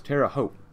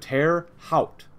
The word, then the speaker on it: Terre Haute: That's how you pronounce Terre Haute. It's like Terre Haute, Terre Haute.